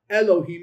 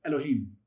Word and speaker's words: Elohim: It's not Elohim, it's Elohim. Listen to my voice again. You hear the difference. It's not Elohim. It's Elohim. See how quickly you pronounce that E? It shortens it.